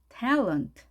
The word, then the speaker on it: talent: talent. 자, tell의 강세가 있으니까요. A 소리가 나오겠죠. talent. 자, 그러면 어 소리는 어떻게 될까요? 이 소리죠. talent.